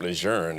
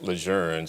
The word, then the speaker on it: Lejeune: this area three at campus units via camp adjourned as they pronounce it now so I got it used